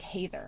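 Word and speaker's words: Hathor: t h o r it's kind of Heather but like hather I thought this was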